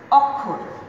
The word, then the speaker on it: অক্ষর: খেয়াল করি, অক্ষর, আমি কিন্তু এখানে অকে ও বলছি না, কিন্তু এখানে সে